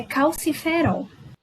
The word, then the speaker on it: calciferol: A pronúncia correta é calciferol.